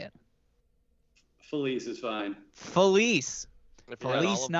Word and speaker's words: Filice: Well, when my ancestors came from Italy, it should be Felice, but the American tongue was like Felice.